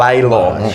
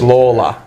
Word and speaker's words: Lawler: It's like Lawler. Instead of Laylaw, it's Lawler. But that's what he pronounces it Lawler.